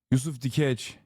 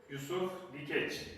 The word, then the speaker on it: Yusuf Dikeç: Yusuf Dikeç.